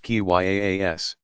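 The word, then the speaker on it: qiyas: of reasoning by analogy kia's pronounced ki yaa s that followed strict rules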